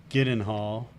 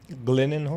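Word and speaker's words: Gyllenhaal: name is it not it is a Swedish name so shouldn't it be like Y and all oh my God I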